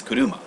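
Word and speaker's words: 車: kanji is pronounced that that kanji is pronounced kuruma as a as a kunyi so that's the reason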